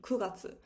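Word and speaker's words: 九月: um sorry the month nine september would be kuratsu so you need to keep in mind that month 4 7 and 9 are pronounced just a tiny bit difference meaning that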